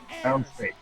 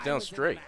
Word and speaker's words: Downstate: Is it downstate? Is that how it's pronounced? The number one person Oh, it was downstate. I thought it was down straight. There's not an R in there? No, there's no R.